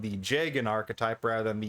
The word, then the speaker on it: Jagen: of is called the jagen archetype rather than the yeagen it does appear to be pronounced as a j by the community instead of a as